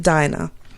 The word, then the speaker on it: Dinah: some people pronounce it Deena some people pronounce it Dinah she wanted to see